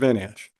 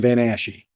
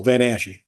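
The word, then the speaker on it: Van Asche: any questions for Mr vanash um so B sorry and I've heard your name two different ways van Ash and Van ashy you guys say it would yeah extra syllable van asy got it no no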